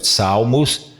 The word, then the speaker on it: Psalmos: Salmos, você pode repetir, ó, Salmos, David, que é a paroxita, Dominus Pacit, Pacitme, et Nickel Mic Derit.